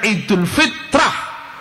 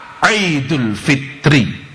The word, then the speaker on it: Idul Fitri: Al-fitru maknanya berbuka, al-fitrah maknanya suci. Pengucapan itu bukan Idul Fitrah, Idul Fitri.